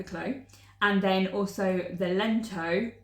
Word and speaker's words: Clow: It's the Toaster by Rebecca Clow, because I say it wrong apparently every time, but it's Rebecca Clow, and then also the Lento by Jonna Helen.